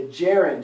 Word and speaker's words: gerund: going to happen is also called the jarred if or the jew-run def not the Jared not the Jared's the gerund if or the Jerome did both pronunciations are correct there they're perfect all